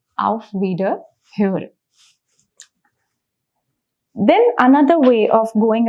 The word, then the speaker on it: auf Wiederhören: Okay, first thing to mark here is the pronunciation of O umlaut that we have learned, which is Ö. So the word becomes auf Wiederhören, which means I will hear you again in a way.